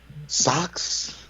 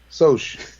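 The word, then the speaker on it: Socs: Socks? Soaks? I didn't know what it was, but then when I watched the movie, I was like, Soch? The hell? They should have spelled like S-O-S-C-H. Soch. Soch.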